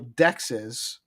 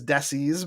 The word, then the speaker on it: dexes: Um well I pronounce it dexes but yes it would be pron it could it could be pronounced as desis by uh people that are reading it that way with the x and all that.